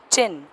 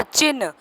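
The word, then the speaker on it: चिह्न: और चिन्ह, चिन्ह हम बोलते हैं चिन्ह, लेकिन ये कहा जाता है वास्तविक इसका प्रोनाउंसिएशन जो बोलने का तरीका होता है वो चिन्ह होता है। ची ह और न, जैसा कि आप चित्र में देख रहे हैं कि ची ह और नीचे न लगा हुआ है।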